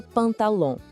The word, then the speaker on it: pantalon: Em francês, a gente fala le pantalon. Presta bem atenção nesse final, que é meio anasalado. Ouve só. Pantalon. O som sai um pouco pelo nariz, sabe? De novo, comigo. Le pantalon.